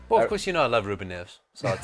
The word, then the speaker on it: Ruben Neves: 3 names: Ruben Neves. Excellent. That's 3 different people. That's how you say it properly in Portuguese.